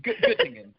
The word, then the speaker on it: Göttingen: How do you pronounce it? It's Göttingen.